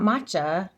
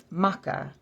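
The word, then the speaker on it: Macha: Morgan so ma oh not matcha like green tea not matcha Maka MAA is how you say that the matches gu that's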